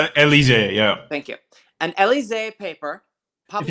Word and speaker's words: Élysée: An Élysée paper published. If you just think that's from, if you think about the Champs-Élysées, that's what it's from.